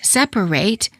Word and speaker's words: separate: For example, the ATE ending of the word separate is pronounced ate if it's a verb, as in separate, and it when it's a noun, as in separate.